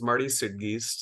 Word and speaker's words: Marty Suidgeest: yeah so I uh so my name is Marty suggest uh you did get the pronunciation correct thank you for that and um